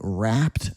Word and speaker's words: wrapped: You can almost hear that ed go away at the end of the word when you say it quickly.